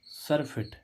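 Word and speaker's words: surfeit: एफ ई आई टी सफिट देखो इसमें छोटी आ रहा है छोटी सफिट सफिट मींस अतिरेक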